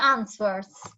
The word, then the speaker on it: answer: so complete they are answers answers answers answers don't don't pronounce it the W is answer anwers yes then you